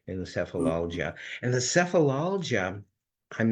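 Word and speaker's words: Sefalaljia: to thumb through it and there was the sephilia that's the proper pronunciation sephilia which essentially means headache I think it's Latin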